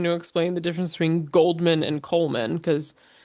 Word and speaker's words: Goldman: uh you know, oh the the D is silent, so it's like cuz Yeah, cuz they're kind of saying coldman. Yeah, Goldman.